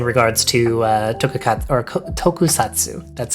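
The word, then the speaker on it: tokusatsu: At least in regards to uh tokat or tokusatu, that's how you say it.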